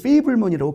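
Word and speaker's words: Fabelman: 미국 영화에 나가서 그 세계 영화의 그 거장이었던, 특히 서부극 장르의 대표적인 감독이었던 존 포드와 주인공 샘 페이블먼이 만나서, 이제 파벨만이라고 합니다만은 거기서는 페이블먼이라고 계속 발음을 하죠.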